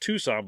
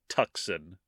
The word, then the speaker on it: Tucson: know about Arizona but there's a city named Tucson yeah in Arizona but it's pronounced it it's but it's pronounced Tucson but it's spelled tuxin took c-u-c-s-o-n and she said toxin many times I felt horrible for I I